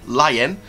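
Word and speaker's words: lien: Now, this public lion, as it's pronounced, L-I-E-N, lion, which has been filed publicly, seems to suggest what could potentially be coming for the 2021 season.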